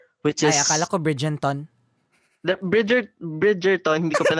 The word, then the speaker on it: Bridgerton: Tapos, Niña couldn't say Bridgerton. She kept saying Bridgenton. So, so I said Bridgerton.